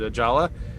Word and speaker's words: Ajala: star trek newcomer david ajala okay that's spelled differently is that because i'm pronouncing it wrong is it a jayla no you're right ajala okay in the trailer